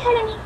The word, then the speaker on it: Haruny: ¿Lo dije bien o cómo se pronuncia? Sí, así, Haruni.